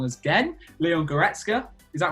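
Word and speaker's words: Goretzka: one was um leon i'm gonna say his name wrong as again leon goretska is that right or wrong correct yes look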